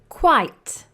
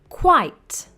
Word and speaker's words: quite: Quite. Quiet. There is a difference in pronunciation and spelling. Quite.